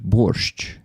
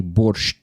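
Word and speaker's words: борщ: transliteration of the word borch. This is how we say it in Ukrainian. We don't say borch. We never say t there like and it's not the t that should not be pronounced.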